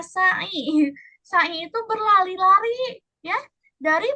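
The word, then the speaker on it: سعي: Bukan sa'i tadi tuh, bacanya sa'i.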